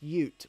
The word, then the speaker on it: Ute: okay oh uh gut bomb says Ute is pronounced Ute basically a sedan with a pickup truck bed